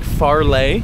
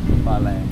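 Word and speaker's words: fale: right now this house they call them Foles f a l e they pronounce it like farlay faray which is weird I don't get it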